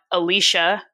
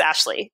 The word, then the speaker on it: Ashleigh: for the record everybody my name is not Alesha here's how you can